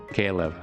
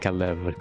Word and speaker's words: Caleb: Caleb, not Caleb. Caleb.